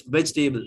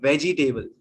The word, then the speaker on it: vegetable: this Hy then table it's veg table not veggie table vegetable vegetable vegetable right